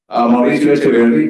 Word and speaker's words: Mauricio Echeverri: So Mauricio Echeverri, very good job on the pronunciation.